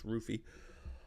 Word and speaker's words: Ruffy: I should have known how to pronounce his name properly. Instead of Ruffy, it's Rufy.